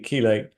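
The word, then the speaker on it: chelate: have heard that term it's spelled c h l a te kelate comes from the Greek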